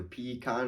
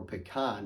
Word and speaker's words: pecan: the angel debate is really just a difference in stress placement either pecon on the front half or pecan on the second half